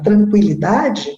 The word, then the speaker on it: tranquilidade: polpa isto a palavra linguiça e a palavra tranquilidade eram escritas dessa maneira com o tema o